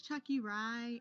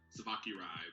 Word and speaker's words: Tsvakirai: So, it's funny because like a lot of people pronounce it Savaki Rai because it's my name is spelled Tsvakirai. But Chucky, then rye bread.